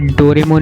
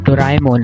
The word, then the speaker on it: Doraemon: और एक और चीज बताता हूँ आपको, ये जो आप डोरेमोन डोरेमोन बोलते हो ना, आपकी ये प्रोनाउंसिएशन भी गलत है। ये डोरेमोन नहीं, डोराएमोन है। DORAEMON, डोराएमोन।